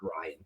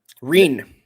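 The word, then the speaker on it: Ryne: I'm 100% sure it's actually not Ryan, but I'm still going to say Ryan. It's spelled R-Y-N-E. Reen.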